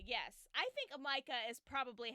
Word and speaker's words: Mika: So it's like Micah if you're British. It is like Micah, yes. I think Micah is probably how it was intended.